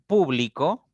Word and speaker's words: público: Por ejemplo, en público recae en pu, en la primera sílaba.